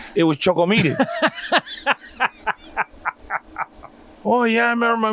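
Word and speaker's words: Choco Milk: um nestle quick but it was choco c-h-o-c-o milk m-i-l-k but they they didn't pronounce the k it was choco meaty oh yeah i remember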